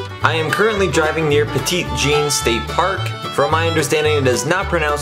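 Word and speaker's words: Petit Jean: am currently driving near petite gene state park from my understanding it is not pronounced on the french way and most locals actually call it pedigene i did visit the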